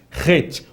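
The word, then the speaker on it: ח: Het. O som tem que ser gutural, né? Ele tem que vir da garganta para a pronúncia ser uma pronúncia correta.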